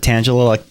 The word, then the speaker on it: Tangela: I pronounce it Tangela like Angela, but with a T.